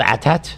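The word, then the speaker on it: AT-AT: I think it's supposed to be pronounced atat. Yeah. Well, you can go. It's called Atat.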